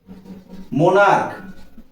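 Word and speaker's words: monarch: আবার একই ধরনের আমি যদি বলি মোনারক স্টমাক এখানে উচ্চারণটা দেখো মোনারক এটাও সিঙ্গুলার এই সিইচ এর উচ্চারণ এখানে কি হয়েছে দেখো সিচ এর উচ্চারণ হয়েছে ক বা কে আর এখানে উচ্চারণ হয়েছিল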